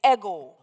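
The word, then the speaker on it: ἐγώ: gamma Omega eg long o we anglicize the pronunciation and say ego the Greek is ego so the ego is the AI as in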